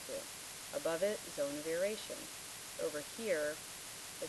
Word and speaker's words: aeration: Above the water table is the zone of aeration. A-E-R is how it's spelled, but it's actually filled with air, A-I-R.